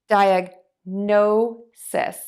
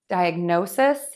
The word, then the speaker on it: diagnosis: end with sis and we're actually going to have four syllables here instead of three diagnosis diagnosis diagnosis diagnosis and for diagnoses